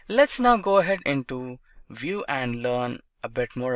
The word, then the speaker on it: Vue: Vue.js is commonly referred to as Vue and pronounced as Vue.js or Vue is rightly so.